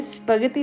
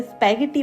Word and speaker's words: spaghetti: मेरी सिस्टर जो है वो बोलते हैं स्पति नहीं बोलते हैं इसे स्पैगटी बोलते हैं। वो कहते हैं कि तुम तोतला करके बोलती हो। तो इटालियन लैंग्वेज में इसे यूं ही स्पति ही प्रोनाउंस किया जाता है।